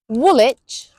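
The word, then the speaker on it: Woolwich: Then we have the ones with silent w Dalich Woolitch Greenwich Chisik Warick Avenue and Sabuk.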